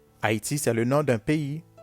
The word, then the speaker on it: Haïti: i comme d'un système le heat rema le i avec les deux petits points dessus ça se prononce comme y/y com eyi comme dans haïti haïti c'est le nom d'un